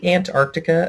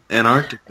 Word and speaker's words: Antarctica: I mean, sometimes I pronounce it Antarctica. Antarctica. I don't say the C. I don't say the first C.